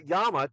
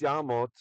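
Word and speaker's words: יָּמָת: The reason it's mot, it's not yamat, it's yamot, is because that is a closed unaccented syllable. And whenever you have a closed unaccented syllable with the comments in it, that's going to be an o, the short comments.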